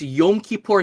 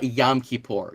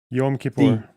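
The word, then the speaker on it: Yom Kippur: the land um and also yeah exactly you're pronouncing it better than me and it's yum kipor not yamor yum Means Day yam means water yum kipor yes okay is it Rin or Rabin it's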